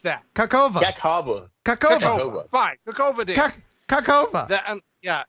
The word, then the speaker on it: Kakhovka: The Kakhovka Dam. I'm looking at it right now. Yeah. You tell me how to pronounce that. Kakhovka.